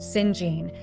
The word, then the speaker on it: St. John: St. John, pronounced Singene, is a rigid, aesthetic clergyman with a stern sense of duty.